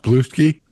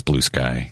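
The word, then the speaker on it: Bluesky: a lot of good is it pronounced blue ski no it's blue sky okay but people derisively refer to it as blue ski and I'm on it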